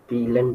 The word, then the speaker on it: vielen: Vielen Dank.